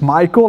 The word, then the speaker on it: Maikel: You pronounce it as Michael, like Michael Jackson.